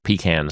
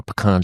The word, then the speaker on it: pecan: And we went to a place in Austin in Texas, which was an experimental project called the Pecan Street, or Pecan Street, as the Americans say, project.